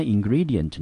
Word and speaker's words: ingredient: ingredient 哈，这个字呢，第一个音节在 in，我们念成 in， gre 我们念成 gre， di 念成 d， ent 我们念成 ent，重音节落在第二个音节，这个字我们念成 ingredient。Ingredient，那 ingredient 呢？它是一个可数的名词，中文指的是成分或者是材料，我们也可以把它翻成食材，通常是用在烹饪用的，我们英文念成 ingredient。